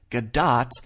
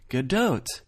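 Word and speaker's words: Gadot: supposedly said Gat when they don't pronounce it that way for the record that Israeli talk show ended up being one of the many video sources I've compiled that all say good doe I already know I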